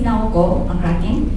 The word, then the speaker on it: Naoko: all my name is n and how you say it is like now like